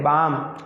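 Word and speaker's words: balm: ये बाल्म नहीं है, बाल्म, अरे एल साइलेंट है, बाम, बाम लगाते हैं ना, झंडू बाम, जिया हरी बाम, ठीक है, झंडू बाम, ठीक।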